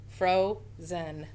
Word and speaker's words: frozen: So we're going to give it a long O. Fro. And then look at this one. The vowel's in the middle. That's going to be short. Zen. Frozen. Frozen. Okay, 2 syllables.